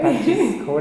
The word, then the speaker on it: Patris Corde: Yeah, Patris Corde.